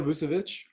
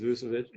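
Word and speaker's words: Vučević: Nikola Vucevic. Yeah, or So some people say Vucevic, or people say it different, but I think it's Vucevic.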